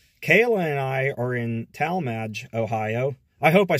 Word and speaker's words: Tallmadge: I said that right because I said tall mad so one day and somebody said I pronounced it wrong I don't know Talmadge tall maginot whatever she says just go a Talmadge but anyway we're here